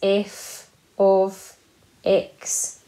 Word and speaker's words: f(x): we pronounce this but f bracket x we say that as f of x okay so we have